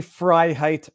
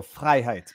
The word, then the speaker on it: Freiheit: It is phonetically Freiheit perfect. In French, we just roll the R's. We go Freiheit. But Freiheit. That sounds almost German. It is well, it's Germanic. It depends. It is of Germanic descent.